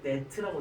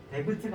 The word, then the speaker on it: debt: 근데 문제가 뭐냐면은 뒤에 A lot of debt라고 되어 있어요. 데브트가 아니라 B는 묵음입니다.